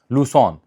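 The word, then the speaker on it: Lucerne: है बल्कि जर्मन अक्सरियती शहर जिसे कहते हैं लसोन स्पेलिंग बड़े अजीब है पाकिस्तानी तो नहीं जानते प्रोनंसिएशन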